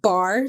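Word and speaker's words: barre: my booty kicker is it's a at home bar do you know what bar is like to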